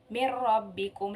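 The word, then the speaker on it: من ربكم: apa Yoga Bila Ghunnah jadi cara bacanya pun tanpa didengung jadi seperti ini mirrobbikum langsung mirrobbikum mirrobbikum nah contoh yang lainnya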